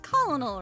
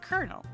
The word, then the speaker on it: colonel: confused and nter said someone pronounced colonal wrong it's pronounced Colonel oh you think I